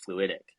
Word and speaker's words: FluidIQ: word fluidic you know you pronounce it fast it's fluidic um you you you